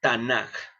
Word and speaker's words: Tanaj: Algunas veces la van a encontrar como Tanaj, con J. Esto se debe a una castellanización. Por la pronunciación, nosotros pronunciamos como K, por así decirlo, aunque a veces pudiese